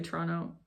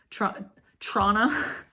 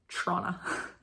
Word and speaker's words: Toronto: just heard me say Toronto with 2 T's. I'm so sorry. Trona. It's like, you know, if you say any T's in the word Toronto, you're not from there. It's pronounced Trona.